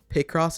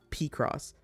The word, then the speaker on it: Picross: So like maybe the other person like or the person that made this also doesn't know that it's pronounced Picross and not Pacross.